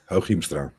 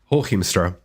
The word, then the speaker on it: Hooghiemstra: So, drum roll, the secret phrase for today is going to be, I'm not pronouncing it again. Say it, Walter. Hooghiemstra. Hooghiemstra.